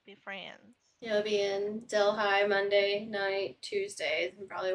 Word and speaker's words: Delhi: called it Del High.